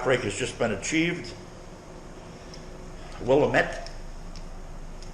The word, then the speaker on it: Willamette: Willamette. It's pronounced Willamette.